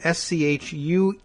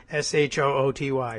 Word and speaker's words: Schuette: Of course, it's not spelled the way it sounds. Those of you playing along at home, Schuette. So I'm glad to know the pronunciation, certainly. And maybe he should think about changing it to Shooty.